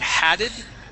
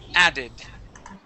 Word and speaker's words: added: word is added here you would added an H there at the beginning of that vowel saying haded okay this is he added added all right excellent